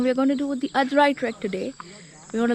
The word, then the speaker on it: Aadrai: It's a fine, lovely Sunday morning, and we are at Malshed Ghat with treks and trails, and we're going to do the Adrai Trek today.